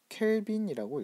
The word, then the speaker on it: 켈빈: K는 어떻게 읽냐면 켈빈이라고 읽습니다. 켈빈.